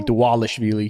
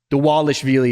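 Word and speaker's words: Dvalishvili: Dwallish Vie. No, it's the Wales Philly. Dwalish Vely is how he is how he said that in in Georgia. In Georgia, the V's are like W.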